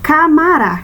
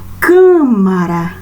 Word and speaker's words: câmara: Camara, camara. Camara não existe, nós temos que acentuar. Câmara, câmara.